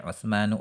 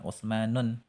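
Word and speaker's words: عثمانُ: akhirnya itu Alif Nun seperti utsmanu Utsman salmanu Salman hilmanu Hilman ya Bacanya jangan ditanwin jangan utsmanun salah ya kemudian yang selanjutnya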